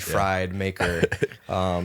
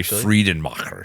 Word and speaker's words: Friedenmacher: A lot of people like to say Friedenmacher. Friedenmacher? And they try to get it really German, but Friedenmacher. say it like an American. Friedenmacher. Yeah, say it Friday, yeah.